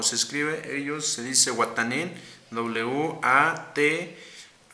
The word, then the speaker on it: Watanin: Yo, tú, él significa wa, WA y yo, tú, él, ellos, como se escribe, ellos se dice Watanin, WATANIN.